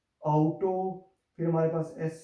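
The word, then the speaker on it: Auto: फिर इनको आउ करके प्रोनाउंस करेंगे, हाउस, आउटो।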